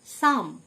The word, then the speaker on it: psalm: সাম, PSALM, P silent, সাম, মানে প্রার্থনা সঙ্গীত।